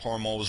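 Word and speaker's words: Hormuz: hormos struts The Straits The Straits of hormos are are exactly how it's pronounced the vast majority of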